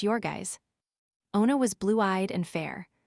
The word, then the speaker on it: Jurgis: Pronounced Yorgis.